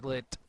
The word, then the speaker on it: .l1t: everyone pronounce it as lit, so... Pretty I sure believe it's yeah, it's lit up, like as in a drug reference.